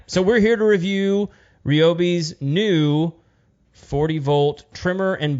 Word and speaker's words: Ryobi: we we know that these guys are going out of their way to pronounce it ryobi on all of these like look at our new products so ryobi it is yeah it's like an